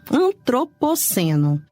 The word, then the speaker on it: Antropoceno: Antropoceno. Antropoceno. Uma coisa a gente sabe, é uma paroxítona porque tem ênfase na penúltima sílaba, mas decididamente não está no nosso vocabulário.